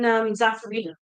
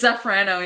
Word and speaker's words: Zaffarano: Or maybe even Zaffarino. I think Zaffarano would be nice with that. Did I say it wrong again? It's Zaffarano, yeah. Zaffarano. Because it's not Zaffarino or...